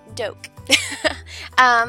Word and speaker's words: Doak: my name is Miss Doak. I put it up here. A lot of people get confused on how to say it. It's literally like an oak tree with a D. Doak.